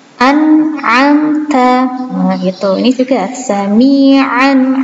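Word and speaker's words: أَنْعَمْتَ: Nah, ini nggak boleh an'amta, nggak boleh dipantulkan, tapi harus jelas an'amta.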